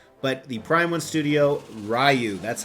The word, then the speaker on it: Ryu: Now this particular statue had a very low edition size, but the Prime One Studio Ryu, that's how I pronounce it.